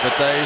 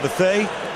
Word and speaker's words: Bethea: By the way, a lot of people call him Bethea. We're calling him Bethea. Why? Because he introduced himself tonight as Antoine Bethea.